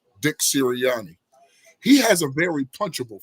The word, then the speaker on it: Sirianni: We know if you look at Dick Sirianni, yes, I said it right. Dick Sirianni.